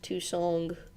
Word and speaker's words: Tucson: But that is how it's pronounced, Tucson.